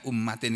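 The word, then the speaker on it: أُمَّةٍ: Nah, di sini bunyinya, dalam ayat ini bunyinya ummatin. Ya, ini dibaca ummatin. Kenapa?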